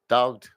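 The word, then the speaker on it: talked: एल D should would इनमें सब में एल मत लगाना क्योंकि तुम एल लगाते हो और तुम पहले भी मैं आपको समझाया ये चीज क्योंकि इनमें नहीं लगता है एल साइलेंट है वॉक्ड टॉक्ड ना ठीक है अक्रॉस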